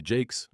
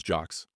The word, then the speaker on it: Jaques: As we close, it's worth noting that we still don't know for sure how Vienna's last name was pronounced. Some say Jake, others jocks.